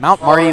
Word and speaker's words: Mount Marty: I always say their name wrong for whatever reason. Mount Marty Lancers.